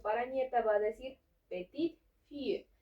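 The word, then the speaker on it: petite-fille: Y en este caso, para nieta, va a decir petite fille. Aquí sí vamos a pronunciar la T de petit, pero aquí ya no.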